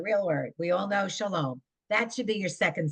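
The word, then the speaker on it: שלום: Amy do line five Sha Sha Shalo sha LOM sha LOM Shalom Tada when this an exclamation It's a real word we all know Shalom that should be your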